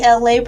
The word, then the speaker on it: Elay: This is me, Elay, pronounced like LA, like the city.